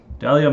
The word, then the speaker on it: Dahlia: Dahlia's most mysterious and alluring trait is the silent H in her name.